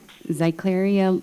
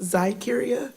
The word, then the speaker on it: Zykeria: And then Zycleria, please correct me if I'm wrong. And then we'll have Deidra Veal, and then Ahina Ephraim. Thank you. My name is pronounced Zykeria, by the way.